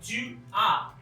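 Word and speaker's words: tu as: ट्यू के साथ ए एस, इसकी जो प्रोनाउंसिएशन होगी, जो उच्चारण इसका होगा वो होगा ट्यू आ।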